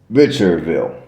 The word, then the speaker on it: Richardville: I I mean now the D was actually silent you did not pronounce a d so I think the way it was pronounced was richer V which most people mispronounced